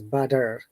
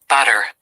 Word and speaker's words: butter: So that's why when we say butter, and this is butter, yeah? Batter. So that is the amazing difference, Butter. Butter, no R, a strong T.